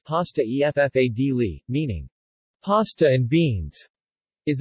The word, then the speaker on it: pasta e fagioli: Pasta e fagioli, pronounced pasta e ffadli, meaning pasta and beans, is a traditional Italian dish.